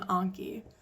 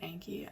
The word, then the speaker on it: Anki: Put some direction sentences in Anki. Some people that pronounce it Anki. I don't, Anki, whatever.